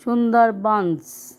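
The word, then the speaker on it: Sundarbans: English for today for class five unit seven দা সুন্দরবনস যখন আমরা সুন্দরবন ইংলিশে উচ্চারণ করব তখন বলব সুন্দরবঞস সুন্দরবানস একটা ঝ উচ্চারণ আসবে সুন্দরবান এবং স্ট্রেস ইন্টোনেশন ঠিক করে দিতে হবে।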